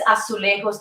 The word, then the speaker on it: azulejos: I love these azulejos, this mosaic. I don't know if it's the right pronunciation.